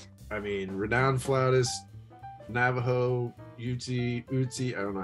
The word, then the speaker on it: Ute: I mean, renowned flautist, Navajo, Uti, I don't know how you pronounce that actually, heritage. Apologies to everyone. Ute. I think it's just Ute.